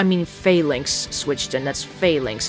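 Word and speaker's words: Falinks: failinks switch in that's failinks it's pronounced failinks not Finks oh God Rock try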